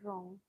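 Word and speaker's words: wrong: रॉन्ग W silent बेटा इसको नहीं पढ़ाया था रॉन्ग। रॉन्ग मींस होता है गलत। ना रॉन्ग गलत। मैंने उच्चारण इसलिए लिखा बेटा डब्ल्यू साइल।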